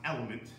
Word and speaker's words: LMNT: better ones although it's very expensive is lmnt pronounced element it's done by it's made by the same